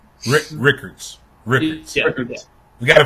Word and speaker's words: Rickards: But Brown was actually from Rikers High School in Tallahassee. Hold on, T. Rickards. Yeah. We gotta pronounce.